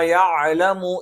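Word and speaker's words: يعلمُ: ഇവിടെ ഈ ആയത്തിൽ പ്രത്യേകം ശ്രദ്ധിക്കേണ്ട കാര്യങ്ങൾ, ഖാലൂ റബ്ബുനാ യഅലമു ഇന്നാ ഇലൈക്കും ലമുർസലൂൻ. ഇവിടെ പ്രത്യേകം ശ്രദ്ധിക്കേണ്ടത് യഅലമു എന്നുള്ളത് യഅലമു എന്നുച്ചരിക്കാൻ സാധ്യതയുണ്ട്. അത് പ്രത്യേകം ശ്രദ്ധിക്കണം. അറബിയിൽ യ എന്നുള്ള ഉച്ചാരണം മാത്രമേ ഉള്ളൂ. മറിച്ച് യെ എന്നുള്ള ഉച്ചാരണം അറബിക്ക് എന്താണ് അന്യമായിട്ടുള്ള ഒരു ഉച്ചാരണമാണ്.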